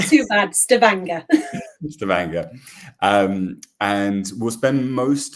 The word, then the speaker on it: Stavanger: Gina, how's my Norwegian pronunciation? Not too bad, Stavanger.